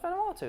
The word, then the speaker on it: Vanuatu: I want to go to Vanuatu. Do you only choose places that you can't pronounce? No, it's Vanuatu. That's how it's pronounced.